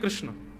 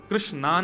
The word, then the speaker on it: कृष्ण: है बुद्धि एकाग्र नहीं कृष्ण कृष्णा नहीं कृष्ण ठाकुर जी का नाम कृष्ण रखा गया अब तो